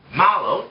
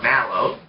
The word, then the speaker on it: Mallow: We have Mallow, or Mallow. I've heard it pronounced both ways.